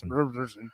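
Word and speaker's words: Thorbjarnarson: Thorbjarnarsson.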